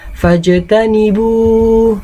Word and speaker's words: فاجتنبوه: Di akhirnya fajtanibu. Nah, itu ya. Itu ada huruf jim sukun. Maka cara membacanya adalah dipantulkan.